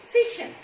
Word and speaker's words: fission: one is called as fission so listen carefully children i am not pronouncing that fusion fusion means it's opposite